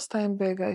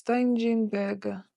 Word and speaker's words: Steigenberger: Anyways, it's not Steinberger, it's Steigenberger. Child, what is all this, man?